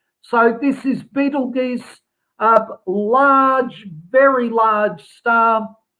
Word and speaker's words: Betelgeuse: Don't confuse it with the movie Beetlejuice. It's not the same thing, and it's not pronounced the same way either. So this is Betelgeuse, a large, very large